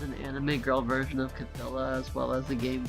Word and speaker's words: Cthulhu: There's an anime girl version of Cthulhu as well as the game Chaos Code.